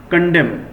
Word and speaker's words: condemn: कंडेम means माना है, नो सर, कंडेम मतलब होता है नोट इट डाउन, बुराई करना, लिख लो कंडेम। यहाँ पे एन साइलेंट रहता है।